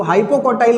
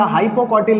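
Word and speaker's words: hypocotyl: क्या बोलते हैं, हाइपोकॉटिल रीजन, इसको हाइपोकॉटाइल बोलते हैं या हाइपोकॉटिल बोलते हैं।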